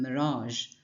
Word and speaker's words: mirage: It's like a soft version of the Z sound.